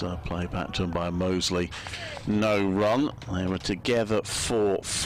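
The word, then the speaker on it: Mousley: young cricketer i have double checked it is pronounced mostly by the way sometimes even called mousely and all sorts but he does say mosley two broken fingers for dan mosey last summer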